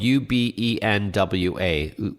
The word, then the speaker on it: Ubenwa: For our listeners, it's spelled u b e n w a, Ubenwa.